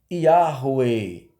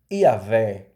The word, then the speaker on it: Yahweh: Interpolaram as vogais de Hashem com o tetagrama, formando a pronúncia chamada forma longa Yahweh. Infelizmente, começaram a pronunciar esse nome errado. Começaram a pronunciar esse nome como Iavé. Ou, tempos depois, acrescentando o J, Javé.